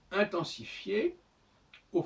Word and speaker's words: intensifiera: Mais il en fait que quand on écrit il intensifiera, on n'entend pas non plus le E.